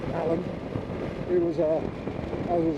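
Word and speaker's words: Alleyn: guy called protected inspector Alan spelled Elaine but pronounced Allen he was a I was almost a regular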